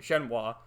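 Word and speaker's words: Shenhua: to finally meet that woman shinoah or shenwa that's he pronounced her name shenwa who you saw her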